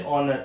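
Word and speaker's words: honour: तो owner H से शुरू हो रहा है लेकिन बोला ओ से जाएगा इसलिए एन आ जाएगा।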